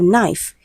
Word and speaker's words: knife: We have knife. Letter K is silent.